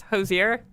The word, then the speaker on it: Hozier: I feel like I'm going to say his name wrong. It's Hozier.